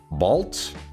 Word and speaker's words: bald: It's pronounced like balt.